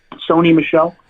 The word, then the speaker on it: Sony Michel: how do you say his name michelle is that how it goes sony michelle yeah sony michelle all right so 18 points